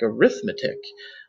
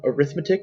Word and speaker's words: arithmetic: you might be thinking why he is pronouncing this arithmetic it looks like arithmetic um they are spelled the same they are different words um arithmetic would be the noun arithmetic would be an adjective that means arithmetic like so